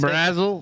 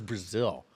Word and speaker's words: Brazil: Brazzle? Brazzle. It's Brazil.